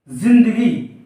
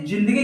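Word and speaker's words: ज़िंदगी: शब्द हो गया और उसको हम उच्चारण क्या प्रदान करेंगे जिंदगी जिंदगी यानी की यहां पर जा में कोई झंकार नहीं आएगी और जो इसको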